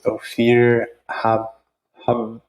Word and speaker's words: Ophir Haberer: today I'm joined by my dear friend Ophir Haberer. Is that? That's good. It's one of the many ways you can pronounce it.